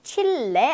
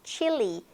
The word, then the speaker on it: Chile: Chile, 네, 칠레 아니고 칠리. 네, 칠리 페퍼 할 때 그 칠리. 우리는 칠레라고 하죠.